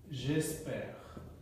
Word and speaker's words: j'espère: তখন এটা উচ্চারণ হয়ে যাবে হলো j'espère.